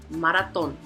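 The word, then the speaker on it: maratón: now let's check out Maron three syllables so the accent is going to be on the third maraton now the last one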